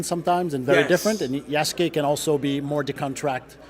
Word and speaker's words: Yasuke: Is it Asuke? Like what's the main character's name again? Yasuke.